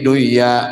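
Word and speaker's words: دنيا: Nah, ini bacanya tetap harus dunya, padahal kan kalau secara hukumnya nun sukun belum ya kan ini harusnya idgham ya, tapi dibaca idhar.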